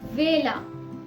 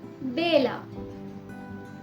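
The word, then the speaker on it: vela: तो कुछ जगहों पर इसे व प्रोनाउंस किया जाता है, कुछ जगहों पे इसे ब प्रोनाउंस किया जाता है। जैसे वासो या फिर बासो, वेला या फिर बेला, वाका या फिर बाका। दोनों ही प्रोनाउंसिएशन बिल्कुल ठीक है।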